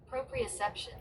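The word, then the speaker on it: proprioception: Propriception.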